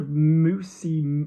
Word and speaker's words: mousse: O-U goes to the chest and U goes to the top lip. So mousse, miel-en-mousse.